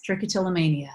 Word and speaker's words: trichotillomania: about much earlier in your life was that trichotillomania did I say it right yes trichotillomania yes that's correct no look I think it